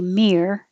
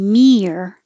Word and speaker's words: mirror: When you say mirror, it doesn't have to be mere. It can be more, your tongue can be lower. Mirror. And then once your tongue is curled back in the R position, mirror. Make the noise. Excuse me. I thought my voice was better. Mirror. Once you curl it back, mirror, hold it there and make the R noise again.